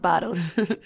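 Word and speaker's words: Botld: it and you think what yeah b-o-t-l-d but pronounced bottled bottle right so we took a storefront on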